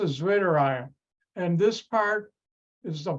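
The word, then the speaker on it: zwitterion: right it's winter iron because my German language background you pronounce a w like a V and that's a zwitter iron and this part is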